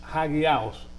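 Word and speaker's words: ἅγιος: La palabra santo en el griego es hagiaos, hagiaos. Así se escribe en el griego y así se pronuncia en el español, hagiaos. Aquí se pronuncia la H.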